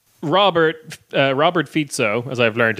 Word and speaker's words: Fico: that's like Robert Robert fito as I've learned it's pronounced it's not FICO um Robert fito Bello